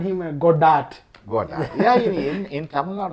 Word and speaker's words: Godard: In English, we are called him Godard. Godard. Yeah, in Tamil Nadu also they call Godard, but the French pronunciation is Godard.